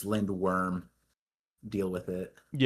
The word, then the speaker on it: Lindworm: But um yeah, I mean it's also funny because people are telling me it's pronounced Lind Verm like V, but then uh Steven Paul said no, it's Lindworm.